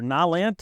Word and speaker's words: Nylint: This is the Nylint brand, or Nylint. It depends on how you say it and who you ask.